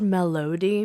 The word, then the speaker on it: Melody: It's spelled melody, but we say melody like a rapper. Like Melody. Melody, what it do?